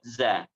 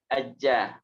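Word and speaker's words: ج: saja bajja ja ajja ingat Jim itu pengucapannya bukan Za tapi aja manja ja Man Abil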